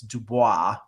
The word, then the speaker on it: Dubois: got Dubois or yeah it's it's felled dubl Oh is but it's Dubois right um I listen I